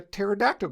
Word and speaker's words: pterodactyl: For the same reason, you can't hear a pterodactyl go to the bathroom, because the P is silent.